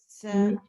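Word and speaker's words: צדקה: So I'm supposed to go tzedakah. That's right. Tzedakah. Berit. Shema. Kedusha. Okay, and as you notice in Hebrew, a lot of the words are pronounced emphasis on the last syllable.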